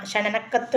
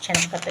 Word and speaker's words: ക്ഷണക്കത്ത്: എന്നാണ് പറയുന്നത് കേട്ടോ പിന്നെ ക്ഷണക്കത്ത് ക്ഷണനക്കത്ത് വേണ്ട ക്ഷണക്കത്ത് ക്ഷണനം എന്ന് പറഞ്ഞാൽ മരണമാണ് കേട്ടോ ക്ഷണക്കത്ത് മതി എന്നാണ് പറയുന്നത് അങ്ങനെ ഒരുപാട് തെറ്റുകൾ പിന്നെ